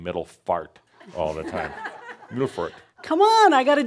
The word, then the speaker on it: Middelfart: Middelfart. That's how they say it in Denmark. Middelfart, like that.